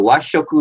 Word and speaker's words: Washoku: Washoku is Thank you for correcting me.